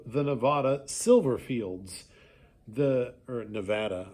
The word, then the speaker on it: Nevada: Nevada silverfields the or Nevada I've learned that it's Nevada okay um pronounced that way the Nevada silverfields of